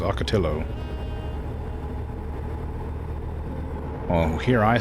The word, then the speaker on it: Ocotillo: The end of the word is the same as in Nahuatl, or it is pronounced with an L. Oh, okay, so it's Ocotillo.